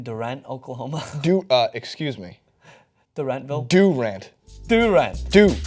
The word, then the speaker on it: Durant: Durant. D-O-O-R-A-N-T, phonetically spelled out in correct pronunciation.